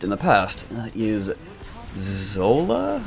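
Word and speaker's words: Xsolla: the past that is Zola I believe is how you pronounce it Xs o l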